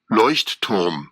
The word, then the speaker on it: Leuchtturm: Leuchtturm. It's okay. You can enter the journaling community and not know how to pronounce Leuchtturm.